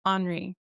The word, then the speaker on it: Anorie: I hear many different ways, but the way I prefer is honory.